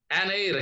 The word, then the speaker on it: heir: We should say an heir. Here also H is not pronounced.